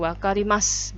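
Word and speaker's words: わかりました: paham berarti jawabannya Hai wakarimasu wakarimashita bacanya yau nya hilang jadi kalau bertanya ditambah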